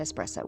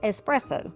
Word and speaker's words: espresso: viewers who told me that is pronounced espresso my whole life as country as I am. We have said espresso. That is incorrect.